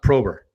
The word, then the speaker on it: Probr: It's Probr. It's but it's still pronounced Prober.